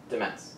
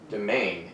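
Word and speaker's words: demesne: Demence. A demence. Domain is the actual pronunciation of the word.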